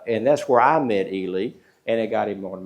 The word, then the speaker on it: Ely: Well, when I got in, I appointed Elie Parker. Now, it's not Eli, he's E- L Y. He pronounces it Elely, like Robert Elie.